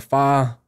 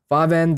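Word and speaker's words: Farvhan: Fervin the Dreamer. Or Farvan? I think the H is silent. Farvan the Dreamer.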